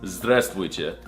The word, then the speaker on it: здравствуйте: It's здравствуйте.